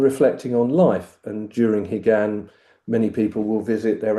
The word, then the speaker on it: Higan: Katsu Kyokai was the traditional Buddhist festival of Higan. Yeah. the um have I pronounced it correctly again?